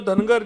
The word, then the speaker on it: धनगर: धनगढ़ जहाँ पे कई जगह प्रोनाउंसिएशन में गलतियां हो जाती है। महाराष्ट्र की बाहर की राज्यों में धनगढ़ बोला जाता है, यहाँ पे धनगर बोला जाता है।